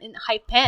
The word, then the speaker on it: Enhypen: island yeah island and they came up with n hyphens and hyphens e-n-h-y-p-h-e no not even an h-p-e-n in high-pen oh hi yeah right i know it just